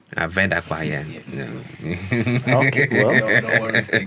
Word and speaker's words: Ave-Dakpa: And also before you close, I also want to make sure that as a child of the land, I am correcting the pronunciation. It is Ave-Dakpa. Ave-Dakpa, yeah.